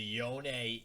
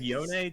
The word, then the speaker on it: Yone: I've always said Yone just because, I don't know, I think it's because he's Yasuo's brother, and like you get that like Yasuo, like you pronounce that last sort of vowel.